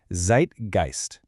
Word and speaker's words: Zeitgeist: Zeitgeist. This word comes to us directly from German.